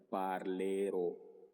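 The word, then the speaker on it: parlerò: Entonces, tomando el verbo parlar como referencia para yo decir que yo hablaré, voy a decir en italiano parlero. Determinación ro con acento en la o indicando que es la primera persona.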